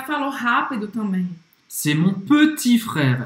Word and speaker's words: petit: Ela não pronunciou o T no final, isso é corretíssimo. C'est mon petit frère. E ela também não pronunciou o E de petit, porque quando a gente fala rápido, é como se a gente cortasse esse E.